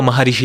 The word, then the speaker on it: महरिष: क्योंकि इनका नाम जैसे लिखते हैं तो वो महर्षि लिखते हैं। बट जो प्रोनन्सिएशन है वो महरिष होती है।